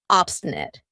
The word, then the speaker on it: obstinate: have obstinate obstinate and notice how I pronounce it with a schah at the end obstinate not obstinate this means refusing to